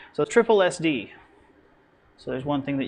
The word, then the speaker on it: SSSD: to be pronounced not sssd because you end up getting one too many or one too few s's in there so triple SD so there's one thing